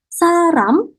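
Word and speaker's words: 사람: kita sudah belajar nih, kosakatanya adalah saram, bukan sarang ya teman-teman ya. Kalau sarang itu cinta, ya. Oke, berbeda. Oke, nah kalau saram di sini untuk orang. Jadi kalau orang Indonesia, Indonesia saram.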